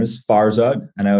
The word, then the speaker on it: Farzad: show my name is farod I know it's kind of hard for some people to pronounce it's I always say it's like far quad and strike but without the queue like absolutely I'm the